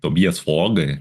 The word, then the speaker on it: Tobias Forge: Tem um monte de vídeo de entrevista do Tobias Forger. Tobias Fogger que tive uma aula de Noroeg semana passada falaram como pronúncia correta.